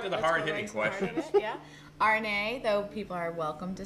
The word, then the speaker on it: Arnet: And our special guest today, candidate for Pittsburgh City School Board, Arnet. The T is silent.